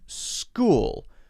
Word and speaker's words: school: be easy and then school school so this one has the s followed by a K sound even though it's CH school school ok so these